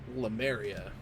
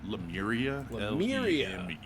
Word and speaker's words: Lemuria: the docket uh bill you said lemaria I like it it's uh lemuria you are i a